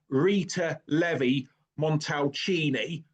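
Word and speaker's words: Rita Levi-Montalcini: I have actually been practicing how to pronounce this all day. Her name is, if you Google her, Rita Levy Montelchini.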